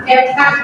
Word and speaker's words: CapCut: Iya, CapCut bacanya ya.